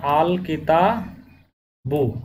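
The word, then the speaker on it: الكتاب: এখানে কাপ যেহেতু ওই 15টা হরফের মধ্যে আসছে, হরফে কমারিয়ার মধ্যে, যার কারণে তার আগে আলিফ লাম আসার কারণে এখানে হবে আল লাম উচ্চারণটা স্পষ্ট হবে।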